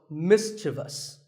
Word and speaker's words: mischievous: in the word mischievous this is not mischievous there is no I after the V the last syllable is just thus so mischievous and then there are